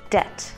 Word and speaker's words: debt: you are in debt please make sure not pronounce the b debt for example she struggled